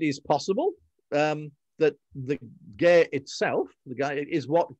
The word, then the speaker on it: Gaer: all the bits it's it has taken it from gaia but is pronounced by all and sundry gear every historical uh bit